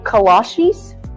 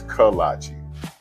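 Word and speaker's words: kolache: the great choices, but do not be overwhelmed by how to say it. What's a cola cheese? Clay. Kalashis. Kalashi. Like the shoes. No, that can't be right. It's kalachi. But it don't matter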